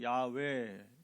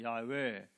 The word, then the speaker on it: 야훼: 하나님의 종이라는 건데 원래 히브리어는 여호와가 아니고 야훼 이렇게 발음합니다. 이게 정확한 말은 야훼.